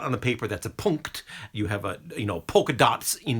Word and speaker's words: Punkt: But it's spelled P-U-N-K, like punk, T. And it was just this combination of NKT at the end that fascinated me. Because we really don't have that in English.